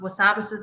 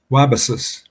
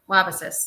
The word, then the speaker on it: Wabasis: Yeah, I'm going to pronounce it wrong. Wasabisis Lake? Wabasis. Wabasis.